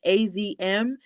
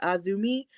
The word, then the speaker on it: AZM: pronounce her name as AZM, because, of course, it is spelled out AZM, even though it is Azumi.